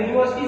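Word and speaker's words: university: जो दिया गया है, यूनिवर्सिटी शब्द यू से शुरू है, परंतु इसका जो उच्चारण है वह स्वर में नहीं आ रहा है, वो किसमें आ रहा है, व्यंजन में आ रहा है।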